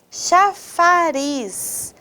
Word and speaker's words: chafariz: Olha só, a primeira palavra, chafariz, chafariz. Qual é a sílaba mais forte dessa palavra? É o riz, muito bem.